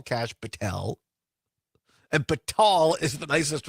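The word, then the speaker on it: Kash Patel: to two as well Oh Donna says it's pronounced cash Patel yes yes it is I was going to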